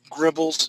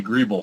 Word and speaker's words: greeble: Making some gribbles. Is that how you say it, Steve? Grimbles, gimbles? That would be greeble, sir.